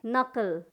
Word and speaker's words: knuckle: उसी तरह से नकल, KNUCKLE, नकल, नकल मतलब ये जो मुट्ठी आप देख रहे हैं इसका, ये इसको हम क्या कहेंगे, नकल कहेंगे।